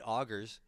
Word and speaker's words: Augurs: second language uh I I automatically went to the French pronunciation of UR was I was like no that's how it has to be said but no then you're like augers and I'm like I was right to begin with I can't believe it